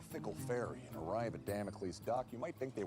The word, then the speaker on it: Damocles: Demaka before another storm of melancholy engulfs you in dampness and misery. Doc, it's pronounced Damocles after the probably apocryphal figure in Sicilian mythology.